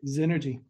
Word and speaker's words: Zenergy: Am I pronouncing that correctly, Shaun? That's right. Zenergy.